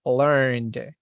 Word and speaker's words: learned: This one is learned, porque termina en N.